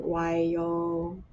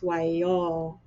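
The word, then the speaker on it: וַיֹּאמֶר: I'm experimenting a little bit that the aleph should still be heard, and so it's sometimes I've heard it as just like a hard stop at the end of the syllable. Instead of saying wayomer, it's wayomer.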